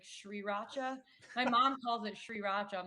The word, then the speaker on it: sriracha: my mom calls it sriracha i'm like mom that r is silent like you just don't pronounce the r between the s and